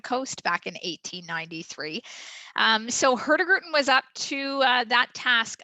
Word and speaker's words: Hurtigruten: Our proper pronunciation is Hurtigruten. It's quite a tongue twister, and you basically have to kind of drop the G within our name, but it's always fun to say.